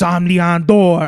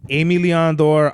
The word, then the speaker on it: Aime Leon Dore: The funniest shit I've ever heard somebody say is, I got this Ozmillen Dore. Hilarious, bro. It's Aime or Aime Leon Dore.